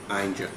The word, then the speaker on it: Ainger: Ainger. Andy Ainger, grave danger, of course.